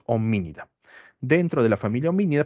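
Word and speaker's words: Hominidae: la familia oía eh Cuando vean la palabra a e bien en muchas palabras en latín la e no se pronuncia cuando está al final bien Esto es homínida dentro de la familia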